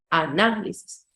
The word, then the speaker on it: análisis: Análisis es esdrújulo, ¿sí? Se acentúa en la antepenúltima sílaba. Análisis. Y yo tengo ahí el análisis, los análisis.